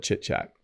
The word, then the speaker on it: chit chat: we often call it chit chat. Okay. It's kind of a funny, you have to say it right. Chit chat, ch, not shh. Don't say it that way. That's bad.